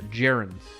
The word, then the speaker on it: gerunds: Ger like stare. Gerunds.